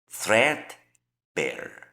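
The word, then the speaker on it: threadbare: Thread bear. Thread bear. Thread bear. Thread bear. El acento va a ir en esta primera sílaba, que es lo que nos marca la transcripción fonética.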